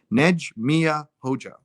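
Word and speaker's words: Nexhmije Hoxha: neg mia hoga hoga hoga so that's the pronunciation nege mia hoja sometimes even the pronounced ears are hard to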